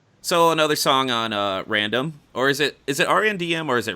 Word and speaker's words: Random: it re nd M or is it random it's random but I do understand that since without the vowels people just spell it out Indian but yes it's pronounced random for me okay so